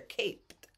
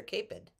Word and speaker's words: caped: cape we say they're caped we don't say they're capid you say they're caped capes caped there's the